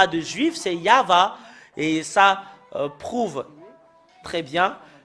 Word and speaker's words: Yahvah: voyons dans le chefer T de juif c'est yava et ça prouve très bien que voilà la